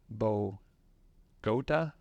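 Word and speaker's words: Bogata: And then I learned today it's Bogota, Texas. Bogota? I'm What's trying. that? Listen, I'm trying to pronounce it right because I got in trouble for pronouncing it wrong.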